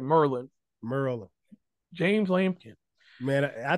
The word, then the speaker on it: Maryland: place called Maryland but let me say it right Merlin Merlin James lampin man